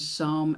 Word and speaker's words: psalm: When you look at the word psalm, you don't pronounce the P, you don't pronounce the L, and it sounds as if it should be written as S-A-R-M.